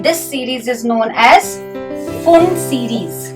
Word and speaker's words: Pfund: This series is known as Pfund series. P is silent. This series is Pfund series.